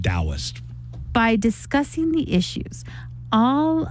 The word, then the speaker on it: Taoist: Yeah, believe it or not, it starts with a T, but But- it's pronounced Taoist.